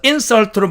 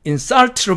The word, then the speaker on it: insult: C번 insult, 이 단어도 앞쪽에 액센트를 줘서 insult로 발음하면 명사로서 모욕이 되고 뒤쪽에 액센트를 줘서 insult로 발음하면 동사로서 모욕하다가 됩니다.